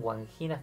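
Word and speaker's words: Wandjinas: Pongan guanginas, que se escribe W, o sea, W-A-N-D-J-I-N-A-S, guanginas, y vean lo que son esas imágenes y se van a sorprender.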